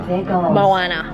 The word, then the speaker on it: Moana: Is that Moana or Mona? Moana.